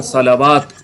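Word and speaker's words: صلاة: लाम और वाव है तो यहां पर तो वा साइलेंट था यहां पर खुल जाएगा सलात सलात ठीक सलात सवात का मतलब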